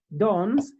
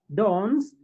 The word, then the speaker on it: danse: So for example, you just say dons, dons, dons, and dons. All of them have the same pronunciation.